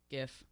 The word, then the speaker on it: GIF: GIF. Hard G.